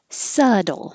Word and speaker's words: subtle: Subtle. There's no B sound at all. And the T sounds like a D, so now it really sounds like subtle.